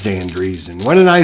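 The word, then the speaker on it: Driessen: I figure being in quarantine, you would have time to study the pronunciation of names. Driesen. Dan Driesen. Of course it's Dan Driesen. What did I say? Dresden?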